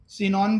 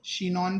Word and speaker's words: Chinon: देखो सिनॉन बोलो या चिनॉन बोलो, एज यू प्रोनाउंस. शिनॉन भी बोल सकते हैं, चिनॉन CH, सो या फिर सिनॉन भी बोल सकते हैं. ठीक है. या किनॉन भी बोल सकते हैं, जैसा प्रोनाउंस करते. किनॉन, सम टीचर प्रोनाउंस इट किनॉन.